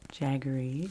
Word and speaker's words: jaggery: if any of you have ever used um jaggery it's spelled j a g g e r y